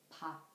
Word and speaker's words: 밥: When 피읍 and 피읍 become the final consonants, the syllables end with the sound of p. For example, 밥.